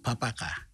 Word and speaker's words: Babaka: nay sam comes from babaka village locally pronounced papaka a few kilometers northwest